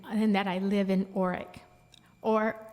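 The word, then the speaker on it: Orick: that I live in Oric, or Arek, as my grandmother said it's supposed to be pronounced.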